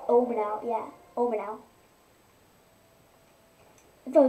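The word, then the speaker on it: Oman Au: I do know one how to pronounce one shrine. It's Omanah.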